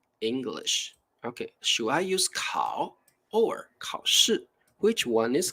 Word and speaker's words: 烤: it right so actually the pronunciation is totally the same we also pronounce it like cow but the main thing